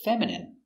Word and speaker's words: feminine: The dog looks feminine, like a girl. Pronunciation feminine. F E F M fem I feminine M fe feminine I feminine feminine m feminine feminine feminine stress on the first syllable feminine feminine your dog